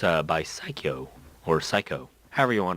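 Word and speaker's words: Psikyo: that it's a bi psycho or psycho however you want to pronounce that pretty sure it's cycle because that's how you pronounce it in Japanese anyways go check that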